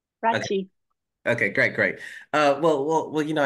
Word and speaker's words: Rathje: Am I pronouncing that correctly, Rathje? Rathje.